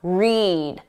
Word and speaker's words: read: When the pronunciation is that long sound, read, eed. That's for the infinitive, to read, or the base verb, read.